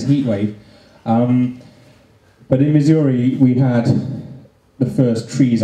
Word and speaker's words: Missouri: French uh lady um pronounced Missouri as misery um which I thought